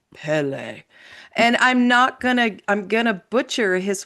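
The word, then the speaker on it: Pelé: And I looked that up with from a man with a very deep voice on YouTube who said Pele.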